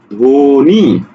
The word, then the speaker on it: ধ্বনি: তুমি বলছো কি ধ্বনি ধ্বনি ধৌকারে ধো নয় শিকারে নি ধ্বনি ঠিক আছে এভাবে উচ্চারণ